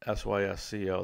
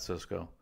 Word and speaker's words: Sysco: Southwest Airlines Sysco corporation sys CEO that Cisco Toyota Motor Credit Corporation